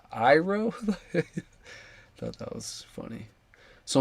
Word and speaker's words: Iroh: He's like, it's actually like Iroh.